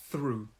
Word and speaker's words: through: we say through through to make this th sound if you watch my mouth i don't know if you can see here put your thumb i'm sorry this is very strange i know this is very very strange but you put your tongue here and it's like air going through through through and it's a long vowel sound through and the second and